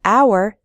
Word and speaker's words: hour: an h sound but in the word hour the h is silent so we say an